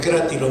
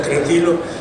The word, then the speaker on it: Crátilo: En la actualidad se dice Crátilo, me parece, pero yo prefiero pronunciar Cratilo para quedar bien con Borges.